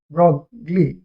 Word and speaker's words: Broglie: क्या, Louis de ब्रॉगली, लेकिन actually French नाम है, तो इनका ब्रॉय नाम है एक्चुअली, इनका लुइस डी ब्रॉय। तो ब्रॉय कहिए या ब्रॉगली कहिए, आपकी मर्जी, लेकिन इनका प्रोनाउंसिएशन एक्चुअली ब्रॉ होता है, ब्रॉय होता है।